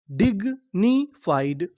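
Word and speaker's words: dignified: अब आपको यहाँ पे गौर करना है IED पर। IED को हम लोग कभी कभार आइड पढ़ते हैं। क्या पढ़ते हैं? आइड, और आगे F लिखा है तो इतनी मीनिंग क्या बन जाएगी? फाइड।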